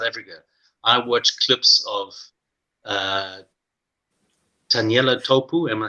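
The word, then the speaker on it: Taniela Tupou: I used to, when he was still at school and I was still living in South Africa, I watched clips of Taniela Topu.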